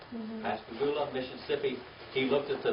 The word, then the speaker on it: Pascagoula: Pascagoula, Mississippi.